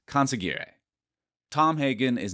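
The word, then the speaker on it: consigliere: of State like no I think it's conary conary maybe I'll drop in the edit on this n close enough in The Godfather films it's pronounced coner Tom Hagen is not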